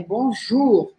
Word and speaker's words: bonjour: Aqui não é bonjour, é bonjour, bonjour, não tem o biquinho exagerado, tá bom?